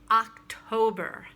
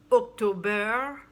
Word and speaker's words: October: food this month is october not october open your mouth stress the first syllable october good and finally